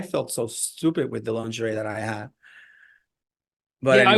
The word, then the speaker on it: lingerie: We're in lingerie, lingerie. That's how you pronounce it.